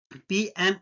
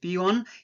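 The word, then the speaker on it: peon: all posts okay guys पॉइंट you noted पी ऑन इट्स नॉट पीएन okay it's पी ऑन it's correct pronunciation is पी ऑन जो चपरासी होता है उसको पी ऑन बोलते हैं पी एन नहीं होता ओके और पीएम मींस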